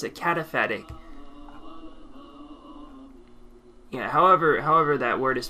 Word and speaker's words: cataphatic: were not ready to hear the positive or cataphatic, how do you pronounce it? Cataphatic. Yeah, however that word is pronounced. Cata something. Cataphatic, I was right.